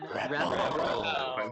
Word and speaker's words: Repl: It's Repl. All right. Let's all say it together. Okay. 3, 2, 1. Repl.